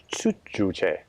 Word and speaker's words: Juche: Was it, how did you pronounce it? Juche. Juche.